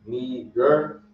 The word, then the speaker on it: Niger: It says pronunciation Niger, and it says the word Niger means black.